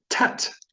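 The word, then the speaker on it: טית: the Hebrew Ted is pronounced like the t as in tent tet represents the number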